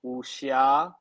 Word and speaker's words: wuxia: So what I specifically write, I write in a genre called wuxia. It's spelled Sure. Wxia, wuxia. Okay. So it's kind of like if you say whoosh and then ya, you've got it. Wusha.